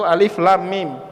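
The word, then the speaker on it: الم: al-baqarah awal ayatnya alif.lam.mim juga tidak dibaca alam tapi dibaca alif.lam.mim Lah kok beda ya bacaannya padatan hurufnya sama jugalah buka al-qurannya awal surah al-fil apa alamtaro alam itu alif.lam.mim tapi dibacanya alam Tara Kaifa fa'ala Robbuka Bi ashabil fiil tapi kalau kita buka surah al-baqarah bacaannya alif.lam.mim kalau ada misalnya calon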